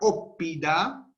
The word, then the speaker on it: óppida: Por ejemplo, en la palabra óppida, la primera sílaba es op. Termina en P, es cerrada. Op. Porque la otra P va para la sílaba siguiente. Entonces, op tiene una O breve, esa O no es larga, es breve, pero como tiene como es cerrada, termina en consonante, es una sílaba larga.